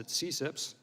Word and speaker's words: CCIPS: and intellectual property section which is abbreviated ccips and we pronounce it at cips is a section within